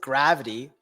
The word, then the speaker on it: GRVT: should I scratch that in fact you pronounce it gravity I always seem to